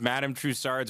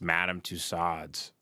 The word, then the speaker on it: Madame Tussauds: What did I mispronounce? When I was going to reference Madame Tussauds Wax Museum, I was like, fuck, I don't know if I got that right.